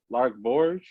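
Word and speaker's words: Lark Voorhies: Lark Borge. That's how you pronounce her name.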